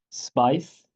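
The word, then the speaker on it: SPAICE: sp a i c I was told it's pronounced spice um uh uh uh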